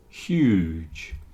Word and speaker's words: huge: say he is huge huge it's not like Hugh okay there are various people called Hugh like Hugh Grant or Hugh Jackman lots of famous people are called Hugh but this word is huge